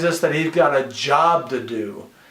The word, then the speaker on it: Job: that he's got a job to do and job is the same way spell the same way as a book of Job just pronounced differently okay so we have